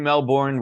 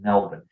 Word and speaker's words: Melbourne: especially in it's written Melbourne. We're American. We pronounce the R's. I'm sorry, you guys call it Melbourne and then get mad at us when we mispronounce it.